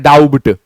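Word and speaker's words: doubt: वैसे ही डाउट डी ओ यू बी टी लिखते हैं डाउट बट पढ़ना है। डाउट टी के पहले बी आई बी साइलेंट हो जाता है।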